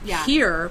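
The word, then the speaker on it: hir: Here, pronounced, but it's a mix between her and Sir, right?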